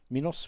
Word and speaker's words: Minos: Um, so yeah, that is, um, I'm not too sure how you pronounce it. Was Minos or Minos? Minos.